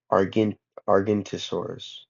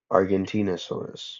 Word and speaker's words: Argentinosaurus: I'm sorry, Argentosaurus, Argentinosaurus. Yeah, that.